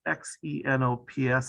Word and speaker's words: xenops: show up and that's x-e-n-o-p-s i don't know how it's pronounced there but here it's pronounced the xenops southern lap wing plain